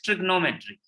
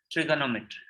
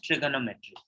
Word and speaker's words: trigonometry: It says trigonometry. No, that's wrong. It's trigonometry. It's not trigno. There is a O after G. So the British pronunciation is trigonometry.